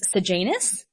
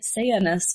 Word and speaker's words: Sejanus: A lot of people use sagenis or sajis. However, I always thought that Latin didn't have a hard J sound and that it was a Y sound. So like you know instead of Julius Caesar, it's actually Julius. So I will be pronouncing it sanus because I felt like that's how I've been saying it in my head.